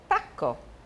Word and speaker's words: pacco: 小心发音，un pacco, pacco, pacco。Il pacco, plurale?